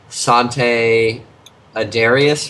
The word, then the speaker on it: Sante Adarius: Speaking of brewery only, I just went to Sante Adarius for the first time.